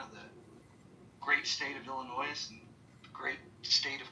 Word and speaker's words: Illinois: It's Illinois. The S is silent. It's Illinois.